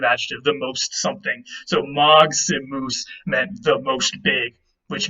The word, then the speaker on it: maximus: And if you break that down, I respelled it for you there. It's actually maximus. The G and the S kind of form an X there in the middle.